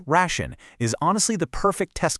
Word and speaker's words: Ration: Now, Ration, again, pronounced Ration, is honestly the perfect test case for this